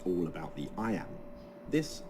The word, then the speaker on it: iamb: and kill the envious moon notice how the iambs cut across both punctuation and word separation meter